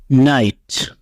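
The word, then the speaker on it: night: Rule 12, IGH এর উচ্চারণে জি উচ্চারিত হয় না। অর্থাৎ কোনো শব্দে যদি IGH থাকে পাশাপাশি একসাথে, তাহলে অবশ্যই জি উচ্চারিত হবে না, আর সেই অংশটুকুর উচ্চারণ আই হবে। উদাহরণ, নাইট, নাইট রাত্র। নাইট শব্দটিতে IGH পাশাপাশি আছে, এই GH এর উচ্চারণ হয়নি, শুধু আই এর মতো উচ্চারিত হয়েছে।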